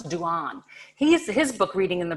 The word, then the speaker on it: Dehaene: Now, this man, Stanislas, and I looked it up on the internet how to pronounce this in French. He's a French cognitive scientist that Maryanne Wolf herself quotes. It's Stanislas Dehaene.